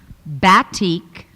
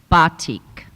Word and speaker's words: batik: 834 followed by 837 but teak alternate pronunciations bat teak batik method of hand painting